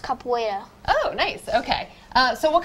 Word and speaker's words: capoeira: That's the way it's spelled, but it's actually pronounced capoeira.